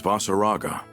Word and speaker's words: Vaseraga: that's not his name the name's vaseraga that's how you say it thank you the girl